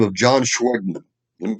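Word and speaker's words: Schwegman: store chain owner by the name of john schweigman let me spell that one for you s-c-h-w-e-g-m-a-n he was a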